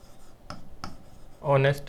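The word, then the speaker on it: honest: जैसे कि आवर है, जैसे कि ऑनररी है, ऑनेस्ट मैन के अंदर जो एच आता है वो है।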